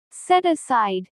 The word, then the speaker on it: set aside: Set aside. The stress is stronger on aside. Set aside.